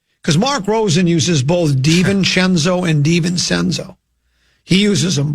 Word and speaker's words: DiVincenzo: Do we want it DiVincenzo or DiVincenzo? I'm a Cenzo guy. Okay, well, we'll go with DiVincenzo, which is the way he pronounces his name.